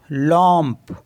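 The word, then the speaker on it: lampe: तो एल ए एम को क्या पढ़ेंगे ल लम ल मीस होता है लैंप एंड जे ए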